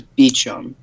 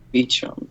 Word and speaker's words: Beecham: It says Beecham. That's how it's pronounced for Joshua. Good to know. Okay. Beecham. That's I would never have guessed that.